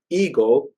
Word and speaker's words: ego: now this word word ego that in theosophy sometimes when we are referring to a higher aspect of our our our egoity we pronounce it as in the Greek word ego this word def uh